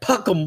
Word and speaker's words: Peckham: where Marco lived is Peckham. Peckham. I can't even say it like that. They're like Puckham Boys, Puckham. You know, because they got this British accents with these kind of,